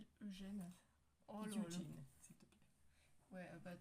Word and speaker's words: Eugene: Eugene, s'il te plaît. Ouais, bah dans ce cas-là, je l'écrirais Y-U-J-N. J-I-N, pardon. Mais non. Eugene. Mais non, c'est Eugène prononcé à la japonaise, mais tu m'excuseras, ça s'écrit Eugène.